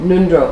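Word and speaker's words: ngöndro: Nundro is in Tibetan, it's spelled with an NJ in the beginning. Donc attention, en tibétain c'est NG au début, pas N.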